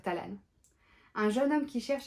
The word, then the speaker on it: Talan: elle décrit d'un supportable Talan ou talent ça s'écritait à l A n on va dire Talan un jeune homme qui